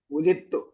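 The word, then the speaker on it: وُلِدْتُ: നിന്നും ഓസ്ട്രേലിയയിലേക്ക് മൈഗ്രേറ്റ് ചെയ്തത് ഉലിത്തു ഉലിത്ത് നമ്മൾ ഖുർആനിൽ വായിച്ചിട്ടുണ്ടല്ലോ ഉളിത്ത് വായിക്കുമ്പോൾ ദാലിന് ഉച്ചാരണം വേണ്ട കേട്ടോ താ ശബ്ദം കൊടുക്കണം ഉലുത്തു ഇതറാം മുത്തജാനിസൈൻ ദയും അടുത്തടുത്തുള്ള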